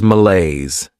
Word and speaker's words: malaise: Next is malaise. This word has 2 syllables, and the stress is on that second syllable.